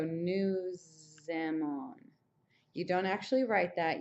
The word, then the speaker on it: nous aimons: And since all of these, these end in S's and these all begin with vowels, you have the liaison kind of sound where you go nous aimons.